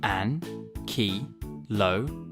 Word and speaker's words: Ankylosaurus: Now it's time for Ankylosaurus. How do you say that again? An-ki-lo-saurus.